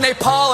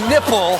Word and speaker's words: Nepal: reality trump referred to bhutan as button and mispronounced nepal as nipple look at this country you are gay it